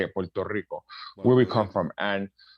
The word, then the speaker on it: Puerto Rico: Rico, you know, that's how you say it, Puerto Rico, where we come from.